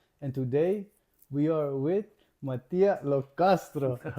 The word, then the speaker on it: Mattia Lo Castro: And today we are with Matia Locastro. Good pronunciation.